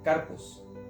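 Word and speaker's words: καρπός: Justamente la palabra frutos que él mencionaba, ella en el original significa, se pronuncia carpos.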